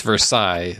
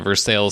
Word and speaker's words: Versailles: French French we know we don't know how to pronounce French but we do know how to pronounce Versailles but in Guyana they call it the versale still so on this podcast